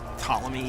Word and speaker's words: Ptolemy: Eat it, Ptolemy. You think you're so cool just because you have a silent P in your name?